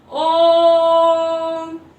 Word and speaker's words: ओम: है तो आप देखिए जब हम इसका उच्चारण करते तो किस प्रकार करते हैं ओम यह जो और है और को हमने इतना खींचा कि हम थ्री टाइम्स रहस्य सर को बोल सकते हैं यही इसकी जो है